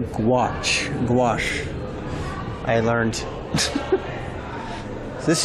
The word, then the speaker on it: gouache: This is pronounced gouache.